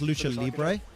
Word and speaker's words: lucha libre: saw so a little bit more it's pronounced lucha libre a little bit different than we usually see